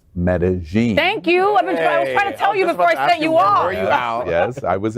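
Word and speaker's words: Medellín: lgbtq plus Colombian stars for Medellin and it's pronounced Medellin thank you yes I was in medelliness how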